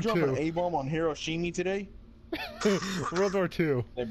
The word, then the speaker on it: Hiroshima: I didn't pronounce that right. No, it's Hiroshima.